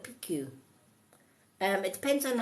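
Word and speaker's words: Pixiu: yeah um oh Pikachu some call it pixu is p-i-x-u picks you but I call it PQ um it depends on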